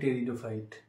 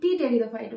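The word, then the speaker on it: Pteridophyte: নিটের উদাহরণ দিয়ে বললে টেরিডোফাইট টেরিডোফাইটেরোফাইটের আগে একটা ঠিক আছে পি থাকে আমি কি করতাম আমি পি টেরিডোফাইট বলতাম পি টেরিডোফাইট তো আমার বান্ধবীরা ওটা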